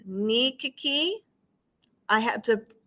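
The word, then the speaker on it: nikki: One was the court diaries, pronounced Nikiki.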